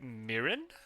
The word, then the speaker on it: mirin: yeah okay so yeah Japanese like the the vowel sounds are consistent a e e o so whenever you see I in Japanese it's always an e sound right so that's why English people say it incorrectly that makes a lot